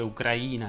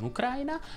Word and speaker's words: Ucraina: Nello scorso video abbiamo imparato che Ucraina si dice Ucraina e non Ucraina, abbiamo imparato che il fiume in Sicilia si chiama Alcantara, oggi andiamo a scoprire come si dice il tuo nome. Ucraina è tua Ucraina!